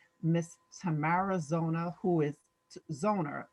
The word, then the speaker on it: Zoner: a lovely guest miss tamara zona who is zoner correct am i saying the name correctly yes